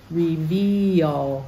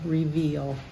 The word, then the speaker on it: reveal: about verse 38 reveal there's another EA which isn't e like read or F like head we say the E and the a reveal reveal and of course the